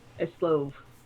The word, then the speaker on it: Eslov: And she'll look over at Eslov, who's asleep. Eslov. All right, that's how you say it.